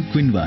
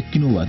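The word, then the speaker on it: quinoa: दरअसल इस खास फसल का वानस्पतिक नाम चिनोपोडियम क्विनवा है। उच्चारण दोष के कारण इसे किनोवा कहते हैं।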